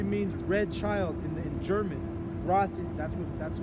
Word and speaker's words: Roth: Roth, that's how you say it in German.